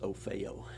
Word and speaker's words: OFHEO: OFHEO is the old Office of Federal Housing Enterprise Oversight. It's pronounced OFEO.